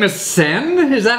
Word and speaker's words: Senn: Well, Eric, and the last name is Sen. Is that how you pronounce it? Sen.